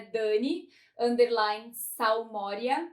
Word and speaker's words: Salmoria: chamar no Instagram, é Dani_Salmoria, que é tipo Salmoura, mas com um I a mais na última sílaba.